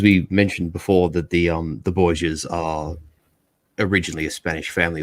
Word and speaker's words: Borgia: But the Italians don't use J in their alphabet, so essentially their Spanish name is Borja. But Italians can't A, they don't use J, and B, they don't pronounce H in isolation. So hence we have this transliteration essentially of the family name from Borgia to Borgia, and it's why sort